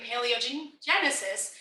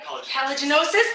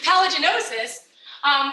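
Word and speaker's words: paligenosis: know if you follow Jason Mills's work in paleogenesis. Did I say it right? Palaginosis, thank you. Palaginosis.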